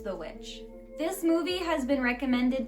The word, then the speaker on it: The VVitch: It says The Witch, and it looks like it's two V's, like VVitch, so like Vitch almost. But it's The Witch.